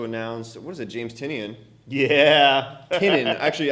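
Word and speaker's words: Tynion: what is it James tinian yeah tin actually I get his name wrong all the time and he it's it's tinan I don't know I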